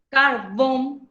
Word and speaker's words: carbón: entienden ahora con tilde la palabra carbón carbón se carga también en la última sílaba cuando se carga en